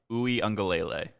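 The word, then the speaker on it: Uiagalelei: how to say his last name it's dj ungelele yes so we did talk about we looked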